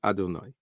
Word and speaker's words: Adonai: then the vav hey, but that's not how we pronounce it. We pronounce it aleph daled, meaning Adonai. Avalo olam haba, but in